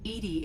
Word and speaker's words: EDI: are you named Edie Edie is the phonetic pronunciation of Ed I that is an acronym for enhanced defense intelligence where are you where